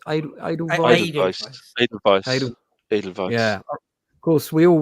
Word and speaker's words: Edelweiss: Do you pronounce it Edelweiss? Edelweiss.